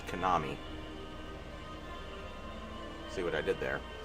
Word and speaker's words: Konami: That much was some Yakuza Kowami. It's pronounced Konami.